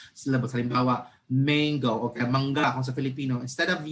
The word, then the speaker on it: mangga: Mangga. Mango. Hindi. Mango. So mali na po ang pronunciation because nagsyllable ka nga counting pero you did not follow the proper accentuation and the speed.